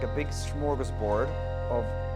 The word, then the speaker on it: smörgåsbord: It's like a big smorgasbord of, that's a Swedish word, pronounced smörgåsbord, of really tasty sandwiches,